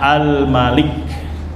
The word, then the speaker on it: الملك: Pendek bacanya Almalik atau Almaliku. Memang ada beberapa riwayat bacaan dibacanya panjang. Malik bacanya apa?